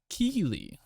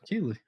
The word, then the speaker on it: Keighley: for me alright so next up uh joff kiely god do i always pronounce isn't the last name wrong keely k how do you pronounce that steve you pronounce it well jeff keeley jeff keeley okay yeah i'd just like to